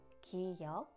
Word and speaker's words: 기역: This is 기역 and is pronounced 그. This sounds similar to the first consonant in good.